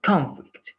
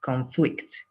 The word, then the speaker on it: conflict: conflict I don't know the first one is the is in the first syllable right conflict and the second one the stress is in the second syllable conflict what do you think is